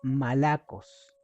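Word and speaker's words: μαλακοί: el griego y significa o se pronuncia Malacos.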